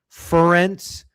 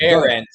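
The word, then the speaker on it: Ferentz: You want to lean into fading Iowa thinking the game will pass Kirk Fence by. I can't believe they're so pissed off about the pronunciation or misprononunciation. Ference.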